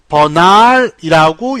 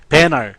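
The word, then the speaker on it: banal: 버날이라고 영국 사람들은 읽을 겁니다. 버날. 그리고 미국인들은 이렇게 읽을 거예요. 배널 정도로 읽을 겁니다.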